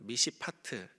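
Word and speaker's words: מִשְׁפָּט: 그런데 히브리어로 보게 되면은 비슷한 발음의 단어가 여기서 표현됩니다. 정의에 해당하는 히브리어는 미시파트라고 합니다. 미시파트, 공정한 재판을 의미하죠.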